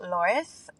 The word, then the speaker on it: Tores: how it should be said with my terrible pronunciation. You did a great job. My name is Loris and my company is Latigresa Fitness Co.